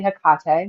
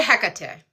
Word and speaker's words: Hecate: I say Hekate. Is that how you say it? Um, I say Hecate. Hecate. Okay. Yeah. So, he Hecate. I'm sure you know she gives grace just like tomato tomato.